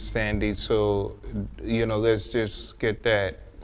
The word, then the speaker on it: Sandy: It's not Vandy, it's Sandy.